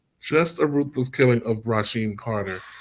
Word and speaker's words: Rasheem Carter: Rasheem Carter. It's Rasheen Carter. crazy. They Say said it his was name. no foul play. It was just a ruthless killing. Just a ruthless killing of Rasheen Carter.